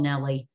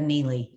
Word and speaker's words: Neely: how many times I've been called Nellie instead of Neely. and I much prefer Neely to Nellie.